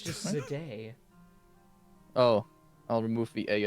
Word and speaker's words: Zendaya: pronounce it? Zendaya. It's No, Zed- Zendaya. It's just Zendaya.